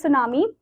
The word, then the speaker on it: tsunami: सो नाउ our next natural calamity is सुनामी. So basically ये जो सुनामी word है इसको आप कभी भी सुनामी करके नहीं बोलोगे, टी इसमें साइलेंट है.